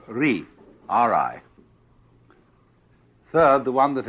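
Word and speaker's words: 理: Second, the world that is called Ri, R-I.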